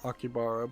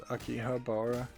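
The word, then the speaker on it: 秋葉原: go to Akihabara yeah most people pronounce it akibara but actually it's Akihabara but um and I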